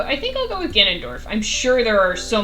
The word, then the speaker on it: Ganondorf: prefer his Ganon incarnations, but I do like Ganondorf, and I think he's a good balance of, like...